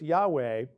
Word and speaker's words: Yahweh: let's give a an exercise here so it's Yahweh but um how' you get from uh again